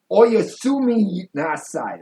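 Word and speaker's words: おやすみなさい: So Oyasumi Nasai. That's what it is.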